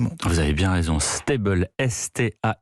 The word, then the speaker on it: Staybl: des lettres plus facile à différencier l'application s'appelle steibel ça s'écrit sta y est elle est pour le